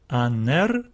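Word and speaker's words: ἀνήρ: And the smooth breathing mark means that there is no extra pronunciations, extra sounds which we need to add to this alpha. We read it as a, aner, aner.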